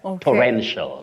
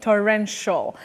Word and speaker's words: torrential: not there you just say sh sh for the terminal that is the ending part of that word torrential torrential got it Rel you